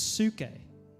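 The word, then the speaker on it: ψυχή: It's suke. That's how you say it, isn't it?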